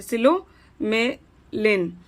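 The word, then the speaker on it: psilomelane: Ore of iron like limonite, goethites and hematites, and are of manganese like philomelen है. अरे इसका P silent है. Silomelane and pyrolusite are other examples of residual deposits.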